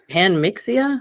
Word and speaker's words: Panmixia: In preparation, I also came across a Weissman's Panmixa. Is that how you pronounce that? Uh theory. Panmixia.